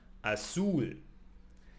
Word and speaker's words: azul: Blue is azul in Spanish and it ends in L. So it's not part of the nose. Therefore, azul.